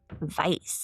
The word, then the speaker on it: Weiss: So the hitters were Charles the Bug Workman and Emanuel Mindy Weiss or you want to do the German pronunciation of that Vice Acting under Lapki Butch Alters enforcement ring.